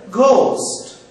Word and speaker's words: ghost: be pronouncing this word ghost but the surprising is this word is pronounced ghost in Hindi alphabet we say c c g in this word GH would be pronounced as G not as g c